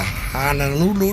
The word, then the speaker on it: Honolulu: But it's a common mispronunciation, Jimmy, that people call it Honolulu, and it's really Honolulu.